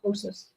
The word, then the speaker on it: ptosis: drooping eyelids is called ptosis. The P is silent. Called ptosis.